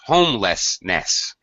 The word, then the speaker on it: homelessness: this one homelessness okay three syllables homelessness first syll that's it first syllable stress homelessness homelessness yeah okay the